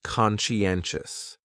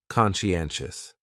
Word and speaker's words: conscientious: Next is conscientious, and this is a great adjective to describe maybe yourself or someone else.